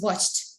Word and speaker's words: watched: it watched watch it it's not watch it it's watched watch thank you hundred